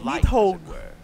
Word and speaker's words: Nidhogg: It's Nidhogg. She's also a vital piece of the Yggdrasil. That's how you pronounce it, Nidhogg.